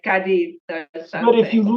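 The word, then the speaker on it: Cádiz: I mean, I It's Cadiz. I don't Yeah, speak Spanish, but I know that they have that sound like the Z is right. like ta, like Cadiz or But if you something, live right?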